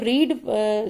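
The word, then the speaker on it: read: Form है वो भी रीड स्पेलिंग होती है, लेकिन इसको प्रोनाउंस करते हैं रेड, रेड, रीड, रेड, रेड।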